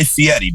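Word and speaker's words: Fieri: show well you guy Fetti by the way is how you actually pronounce his name best shape he's ever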